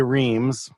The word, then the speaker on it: Reames: whose name was Jose Reames. Reames. Rhymes with Jose. Rhymes with that.